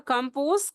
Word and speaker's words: compose: So comprise or compose, comprise with stress on the second syllable. Comprise. Compose, pronunciation compose. We have to give stress on the second syllable.